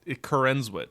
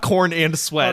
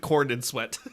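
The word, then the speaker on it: Corenswet: that's his name his coren oh is that how you say it I think so it's not corn and sweat on corn and well that's how it's it's spelled there's only one n yeah you're saying corn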